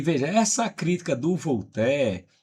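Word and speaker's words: Voltaire: que é um francês, o Volté se escreve Voltir, né?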